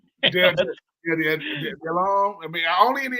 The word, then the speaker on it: Delhomme: they said, look, Jake Delhomme said, stop calling my phone, bro. I'm not coming over there. No. Hell no. I used to call him Del Homie because I couldn't. Delhomme.